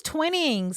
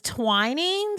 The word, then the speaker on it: Twinings: tea for a start i thought it was twinnings it's twinings is it twin it no it's got to be twining surely because it's it's the word twin and then n-i-n-g-s i